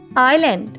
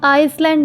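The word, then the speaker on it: island: आयरलैंड है कि आयरलैंड इसको आइसलैंड नहीं पढ़ना ऐसे इसमें साइलेंट होता है आयरलैंड यानि जज़ीरा कि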